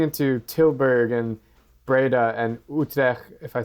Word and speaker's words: Utrecht: But going into Tilburg and Breda and Utrecht, if I said it right. Yeah, How do you say it? Utrecht.